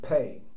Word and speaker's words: Pei: Now, because of the souls of Pei, pronounced P-A-Y, but written as P-E, Nasser is now reincarnated within me, his name and dates equating all my personal identification codes.